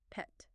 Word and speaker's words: PET: So you'll probably just hear it called the PSMA scan, or you might hear them say PET scan, pronounced like the animal, PET.